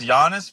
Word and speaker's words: Giannis: It's Giannis but that's pretty good.